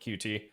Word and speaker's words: Qt: or using QT uh I guess it's actually technically pronounced cute but I've always called it QT.